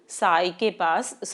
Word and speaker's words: psi: सारी इंफॉर्मेशन है, लेकिन साई के ऊपर एक, इसको साई बोलते हैं फ्रेंड्स, ये आपका जो वेव फंक्शन है इसको साई बोलते हैं, वैसे PSI होता है लेकिन साई इसको प्रोनाउंस किया जाता है।